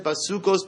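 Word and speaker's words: בסוכות: We don't look at how it's written, but rather what? We look at how it's pronounced. And it's pronounced as basukos, basukos, basukos.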